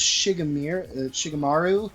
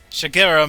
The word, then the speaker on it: Shigeru: I'm not sure if it was Shigemaru, whoever it was. Shigemiru, sorry. I feel like I can never pronounce his name. That guy. That guy. The Mario creator. Shigeru Miyamoto.